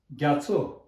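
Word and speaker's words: རྒྱ་མཚོ: त्यसरी गर्दाखेरि र गत ग, ग यत ग्या, माओ छ नारो छो, ग्याछो, ग्याछो। तपाईँहरू यदि तामाङ शेर्पा यस्तै भोटे सिक्किमिज टुप्पा यस्तै हो भने चाहिँ ग्याछो ग्याछो भनेको धेरैजनाको नाम ग्याछो राखेको छ।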